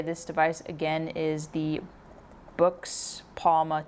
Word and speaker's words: Boox: By the way, I'm going to say this device again is the books palma 2. Um, someone has recently told me how to pronounce this name. So, it's Books, I guess, rather than box, but yes.